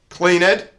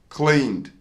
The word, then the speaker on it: cleaned: So we don't add an extra syllable this time. It's not cleaned, it's cleaned. Cleaned. Very common error.